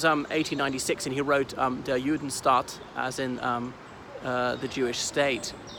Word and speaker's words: Judenstaat: So that was 1896, and he wrote Der Judenstaat, as in the Jewish state. Sorry, I should pronounce it Der Judenstaat with a double A.